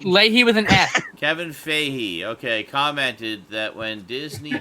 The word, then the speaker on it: Feige: want to live fantastic let's see here Kevin figgy Feige how do you pronounce his last name baby baby faith hey Mike Lahey with an ask Kevin Fahey okay commented that when Disney purchased Fox and